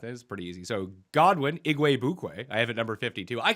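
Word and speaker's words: Igwebuike: be say it again this one's easy it's iguay bukwei igue bukwe yup very well that is pretty easy so godwin iguay bukwe i have at number 52.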